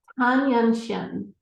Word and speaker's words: Tan Yunxian: Now, properly pronounce her name because I want to get it right. Tan Yunxian.